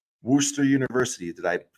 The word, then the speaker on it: Worcester: but Danny he wants to know where's W Worster university did I pronounce that right Worcester State University is in Worcester Massachusetts um I'm